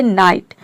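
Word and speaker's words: night: सबसे last rule है यदि किसी वर्ड के अंत में जी एच टी एक साथ आता है इसमें जो जी एच है वह साइलेंट रहता है यानी कि जी और एच दोनों साइलेंट रहता है केवल हम टी को प्रोनाउंस करते हैं जैसे कि देखिए यहां पे है नाइट तो नाइट में आप देख रहे हैं एन आई जी एच टी है वर्ड के लास्ट में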